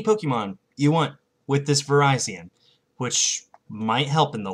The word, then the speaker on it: Virizion: The final grass type is, well, one of my favorite Pokemon from Generation 5, Virizion. That's how it's pronounced. I really want to call it Virizion, but it's pronounced Virizion.